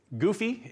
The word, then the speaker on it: GEUFE: It's GEUFE is the pronunciation.